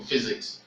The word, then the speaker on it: physics: when you want to pronounce the word physics that will learn it to physics it sounds as if it starts with f but it's actually ph so you need to